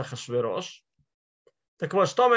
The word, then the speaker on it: Ахашверош: Царь, который один раз его имя так и написано, вот в аккадском он Ахшиаршу, и это именно согласное, один раз в Мегилат Эстер написано Ахашараш, хотя читается Ахашверош.